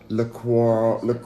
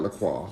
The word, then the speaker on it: LaCroix: Okay, so I'm drinking some LaCroix. I say it right? LaCroix. I said LaCroix before. I'm joking. It's LaCroix. It's LaCroix, you guys. That's the way to say it, apparently, not LaCroix.